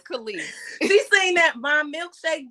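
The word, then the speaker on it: Kelis: Have y'all seen this whole thing with Kellis? Yes. That's how you know she ain't important because you ain't even say her name right. Yep. What's her name? Khalees.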